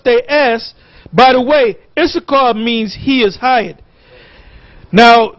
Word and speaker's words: Issachar: By the way, Issachar means he is hired. Now, the way to pronounce it is not Yashakar, is Yashashka. Yashashka.